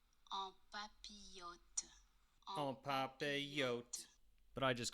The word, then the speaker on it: en papillote: What we're making is vegetables in parchment, or as it's pronounced correctly, En papillote.